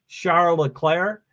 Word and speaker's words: Charles Leclerc: myself when they say Charles Leclerc so uh do you have an opinion on how to say his name I'm pretty adamant about being charola Claire but I mostly get